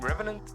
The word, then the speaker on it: revenant: Actually, it's like the name Revenant is a French word which means coming back, literally. So in case you guys did not know, it's pronounced revenant.